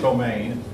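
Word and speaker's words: demesne: D M N C it looks but it's pronounced domain was the plot of land that the Lord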